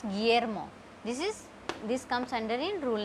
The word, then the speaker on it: Guillermo: So it is not Guillermo. We will not pronounce this U. We will pronounce Guillermo.